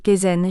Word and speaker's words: kaizen: en langue japonaise neuf Kaizen prononcé kzen jidoka on devrait prononcer